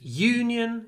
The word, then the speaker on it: Union: from the United Kingdom so the stress moves Union it's on the first syllable but United it's on the second syllable obviously football teams Manchester